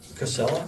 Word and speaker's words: Casella: Casella, is that how they pronounce Casella Waste Tiger?